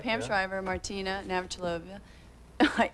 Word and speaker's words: Navratilova: does she pronounce it? No, it's Navratilova. What I kind of did you went say? Navratilova.